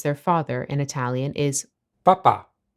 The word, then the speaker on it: papà: papà, A very easy mistake you might make when you first start learning Italian is to accidentally place the emphasis on the first rather than the last syllable. If you place it on the first, you get papa. which is the word for the Pope.